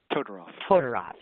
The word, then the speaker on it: Todoroff: wife is Amy, I can't say it, please pronounce it. Todorov.